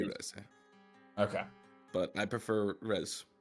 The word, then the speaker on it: Reze: Is it Rizy or Reze? Phonetically in Japanese it would be Reze.